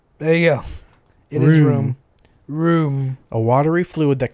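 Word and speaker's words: rheum: Ream. Ream? Ream. Well, looking at the phonetics, room. Phonetically, it'd be room.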